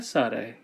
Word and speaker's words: tsade: The sound that tsade makes is a TS sound just like tsunami.